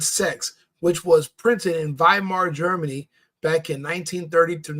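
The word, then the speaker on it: Weimar: you're looking up viar you're pronouncing it wrong it's not Yar I speak German in German we don't have a double U we have a double v so it's viar Germany not Yar it's viar you're mispronouncing the the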